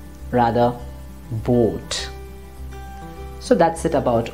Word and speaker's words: Boot: or this word is not going to be boot rather vote so that's it about o let's take a